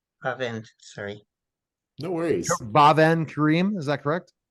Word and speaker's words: Bavand: My name is pronounced Bavand. Bavand. Bavand, sorry.